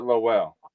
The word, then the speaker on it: Lowell: So you pronounce it Lowell.